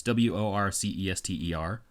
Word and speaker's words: Worcester: I assume it's pronounced Worcester. It's Worcester. Okay.